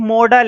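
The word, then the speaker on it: modal: जो कि अपने आप में एक मॉडल है। ठीक है, इसको कुछ लोग मोडाल पढ़ते हैं, तो प्रोनाउंसिएशन मैटर नहीं करती। अब इसको तुम मोडाल बोलो या मॉडल बोलो। मैं तो भाई मॉडल बोलता हूं, और अगर तुम्हें मोडाल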